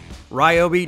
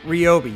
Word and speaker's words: Ryobi: Right here, she is telling us all, listen, yes, it is actually pronounced Ryobi, not Ryobi.